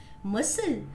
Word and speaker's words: muscle: C is not pronounced in these words. C चा उच्चार या शब्दांमध्ये केला जात नाही. Muscle, disciple, fascinate, descend, decent, and conscious.